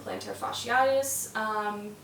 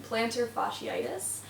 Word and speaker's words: plantar fasciitis: If you suffer from plantar fasciitis, that was a little bit of a funky pronunciation, plantar fasciitis.